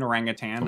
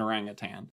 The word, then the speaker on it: orangutan: He's an orangutan. I guess we didn't necessarily say he's an orangutan. Also, is that how you say it? Orangutan? It's not that. There's no orangutan. tang. Orangutan. I mean, obviously there was